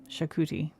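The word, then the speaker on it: Xacuti: Chestnut chaki. Shakuti. They spell it x a c u t i.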